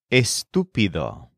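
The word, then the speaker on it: estúpido: English word and the word for stupid is estupido spelled e s t p i d o with an accent on the uo for example the event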